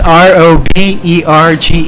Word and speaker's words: Roberge: It's Roberge.